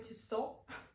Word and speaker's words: Tissot: Но окей, как я думаю, поскольку это швейцарский бренд и произносится это как французский лад, то это Matthieu Tissot.